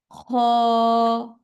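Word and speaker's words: خاء: মস করাচ্ছি হা খ উচ্চারণটা হচ্ছে হলকের শেষ ভাগ থেকে হবে হ্যা অনেকটা নাকটার আওয়াজের মত মত করে আসবে উচ্চারণটা খ একটুই হবে খ তারপর দাল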